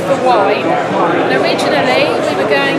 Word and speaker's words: Waen: Because I've heard so many pronounce it. Waen. Waen. Yeah. Welsh word. It's the hill that I live on is called the Waen.